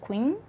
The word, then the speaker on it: Quinn: O primeiro livro que eu li no mês de fevereiro foi O Do Que Eu, da Julia Quinn. Gente, não é Queen, é outra pronúncia.